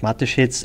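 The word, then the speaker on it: Mateschitz: lives matters which means that the ceo dietrich matheshetz and yeah this is how you pronounce it correctly fired two of his executives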